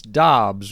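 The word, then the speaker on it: Doubs: getting into the romeo dubs experience or dobbs is it dobbs is that how we confirmed it's pronounced apparently he wants dobbs and it's funny because we all heard dubs pre-draft so we said romeo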